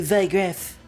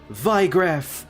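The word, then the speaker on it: Wiegraf: Forgive me, Vigraf, or Ygraf, however you're supposed to pronounce it. We'll learn in the remake. I'm pretty sure it is supposed to be Vigraf, considering it's German, and knowing Weiss from Final Fantasy VII, as well as,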